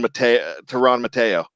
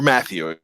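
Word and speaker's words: Mathieu: Tyrann Mateo, or Matthew, excuse me. I always pronounce that wrong because I'm reading it.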